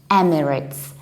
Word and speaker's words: Emirates: the correct pronunciation is emirates emirates with a reduced ending there is no a there is it Emirates